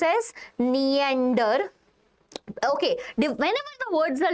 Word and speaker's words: Neanderthalensis: basically, they were Homo Neander- It It is pronounced as Neanderthalensis, okay? What it is pronounced as? Neanderthalensis.